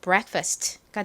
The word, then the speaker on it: breakfast: 그리고 K가 오는데 이 K가 약하게 발음이 나요. 그래서 정확히는 break, break 라는 발음이지만 빠르게 발음하다 보면 이 크 소리가 거의 묻혀서 받침처럼 발음이 됩니다. break, break, break 이렇게요. 그래서 break 이렇게 발음이 되고요.